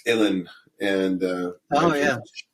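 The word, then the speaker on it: uilleann: something it's it's pronounced Ellen and uh oh yeah rhymes with chilling and uh it's it's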